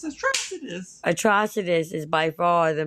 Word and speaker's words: Atrocitus: ] pronounce his name when they say his name it's atrus atrus is by far